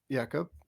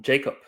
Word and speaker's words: Jakub: I said, "Hi, I'm Jacob." And they said, "Is that how you pronounce it?" I said, "No, it's actually Jakub."